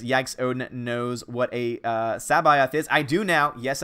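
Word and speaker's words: C'baoth: I always mispronounce the name, but Sabayoth is, I believe, the correct pronunciation, at least according to the audiobook that I'm reading.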